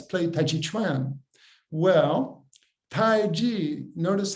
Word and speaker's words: taiji: word play let's play tai chi tran well tai ji notice how it's spelled t-a-i-j-i that does not refer to energy